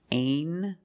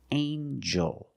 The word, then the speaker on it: angel: Together with the N, a regular N sound, not the nasal but the regular N. Angel. Angel. Angel.